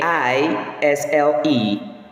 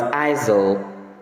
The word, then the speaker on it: aisle: A I S L E. That word is correctly pronounced as isle. Isle. As the letter rest there is silent. Please avoid mispronouncing the word as isel.